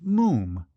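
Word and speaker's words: Moffam: It's spelled m o ff a m but pronounced moom.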